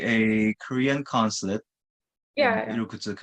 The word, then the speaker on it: Irkutsk: How am I supposed to pronounce it? Irkutsk.